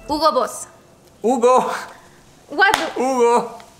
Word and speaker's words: Hugo Boss: The correct way to say it is Hugo Boss.